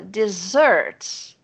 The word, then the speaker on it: dessert: Então, a diferença tá na primeira sílaba e na sílaba tônica, porque aqui é a última. Dessert.